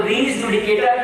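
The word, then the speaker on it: res judicata: इट इज not race जुडिकेटर और race जुडिकाटर, नो, इट इज रीज। और कहा कि लैटिन में ई को आई प्रोनाउंस करेंगे, RES, रीज एंड जुडिकेटर। तो रीज जुडिकेटर जो है इट इज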